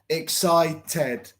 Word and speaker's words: excited: If it is T-E-D, we pronounce TED, excited.